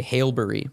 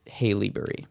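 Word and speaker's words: Haileybury: from haleyberry which is a very difficult Canadian town to pronounce because you want to say halbury but it's haleyberry haleyberry haleyberry um halberry halberry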